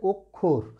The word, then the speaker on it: অক্ষর: অয়ের পরে এই যুক্ত ব্যঞ্জন থাকলে অয়ের উচ্চারণ ও হয়, কিন্তু এই অটা আবার বসেছে অয়ের পরে যতই যুক্ত ব্যঞ্জন থাকে, এ অ বসেছে নাবোধক অর্থে, তাই এই অয়ের উচ্চারণ কিন্তু অই থাকবে, বিবৃতই থাকবে, কখনো সংবৃত হবে না।